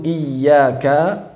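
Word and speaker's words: إِيَّاكَ: Cara bacanya dengan nabr. Iyyaka, silakan. Iyyaka, bukan dipanjangkan menjadi iyyaka karena tasyabbuh dengan mad.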